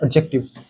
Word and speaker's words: adjective: अच्छा, यहाँ पे जो है ना सर, डी साइलेंट रहता है सर, एडजेक्टिव में डी साइलेंट होता है सर, डी साइलेंट। लेकिन सर हम लोग बोलते हैं सर एडजेक्टिव बोलते हैं, लेकिन हकीकत में सर इसका प्रोनाउंसिएशन होता है एडजेक्टिव, एडजेक्टिव, ठीक है।